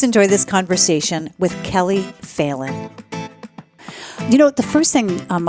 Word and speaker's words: Phelan: Okay, with that, please enjoy this conversation with Kellie Phelan. You know, the first thing I want to ask you, it's Kellie Phelan? Phelan.